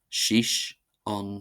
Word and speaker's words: suigh síos ansin: See c see c see c see c see c see c see c see c see c see c see shish on shish meaning sit down there.